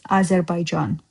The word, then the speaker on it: Azerbaijan: But the right way to say is Azerbaijan.